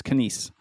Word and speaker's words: Kanies: you came pretty close it's it's kise it's the stress on the last syllable and it's uh surprisingly hard to get right it is I really